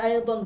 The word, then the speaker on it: أيضا: আচ্ছা, এখানে যে আই দন দদ আছে, আমরা অনেকেই এটিকে জদ উচ্চারণ করি, আই জন বলি, তো এটা বিশুদ্ধ উচ্চারণ হবে আই দন, অর্থাৎ দদ যেভাবে আছে আমরা সেভাবে উচ্চারণ করব।